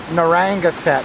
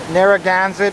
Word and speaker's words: Narragansett: street called uh narragansett however i pronounced it narangaset and everybody laughed at me but uh narragansett is that street there